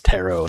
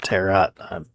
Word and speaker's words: tarot: I think it's tero, not terat. Not in spelling, but in pronunciation.